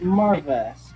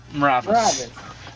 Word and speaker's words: Maravis: Like Marves. What is Marves' name? Maravis. It's like imagine there's an E between the M and the R.